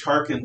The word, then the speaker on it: Tarquin: spelled with a k this is tarkin as in t-a-r-q-u or q-u-i-n or q-i-n and he is known by history as tarkin the last tarpon the